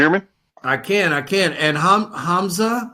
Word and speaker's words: Hamza: And Hamza, I'm sorry if I'm pronouncing your name wrong. Hamza, are you there too? No, you pronounce it correct.